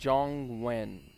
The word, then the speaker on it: Zhongyuan: yellow turbine struck again so it's zhongwen that's how you say it okay Zhong when yep